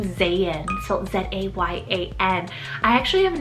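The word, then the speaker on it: Zayan: on the list i have is the name zayn so z-a-y-a-n i actually have never heard of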